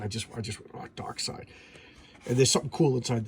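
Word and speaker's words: Darkseid: a pronunciation glossary it's a dark side is pronounced dark side because I remember people would tell me it was dark seed so there you go DC is telling me it's dark side damona demon demonia okay I was saying that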